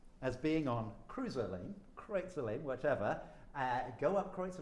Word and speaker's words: Kreutzer: Well, now, if you're American, you call it Cruiser Lane. Cruiser Lane, But okay. it's Kreutzer. Kreutzer Lane.